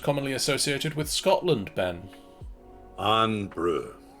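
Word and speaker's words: Irn-Bru: Iron brew. Correct. Making sure not to pronounce iron brew, it is iron brew.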